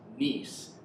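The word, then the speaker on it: gneiss: then schist and then this is actually pronounced nice that's the the hardest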